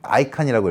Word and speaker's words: ICANN: 맨 위에 ICANN, 아이칸이라고 읽어요. 그리고 인터넷 주소 자원을 전 세계적으로 조율하는 비영리 기관이고요.